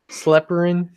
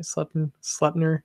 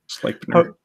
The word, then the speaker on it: Sleipnir: They would leave hay and treats for Odin's 8-legged horse, Sleperin. I don't know how you say it. Sleipnir. Sleipnir.